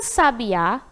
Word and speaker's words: sabiá: Então, é a sílaba que pronunciamos com mais intensidade. Então, ó, a sábia, sabiá, sabia, assobiar.